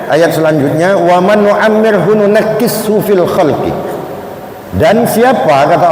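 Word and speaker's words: نُنَكِّسْهُ: Kalau Imam Hamzah dan Imam Asim berpendapat bahwasanya nunakkishu itu dibaca pakai tasydid, nunakkishu. Kalau ulama yang lain membacanya bukan nunakkishu, tapi dibaca nangkushu.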